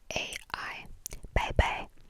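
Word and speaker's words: 拜拜: You can either say one bye-bye, which is B-A-I-B-A-I, bye-bye, which literally means bye-bye, bye-bye.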